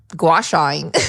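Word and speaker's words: gua sha: go and just Dive Right In and start gacha is that how you say it yeah that's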